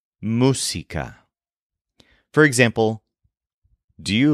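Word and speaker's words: música: the word for music is Musa spelled m u s i c a with an accent over the U Musa for example do you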